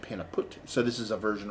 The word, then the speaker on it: Pannepeut: drink their products daily pronunciation is a bit difficult but sounds like the peanut put so it is a pain a pot but they end up pronouncing it Panna put so this is a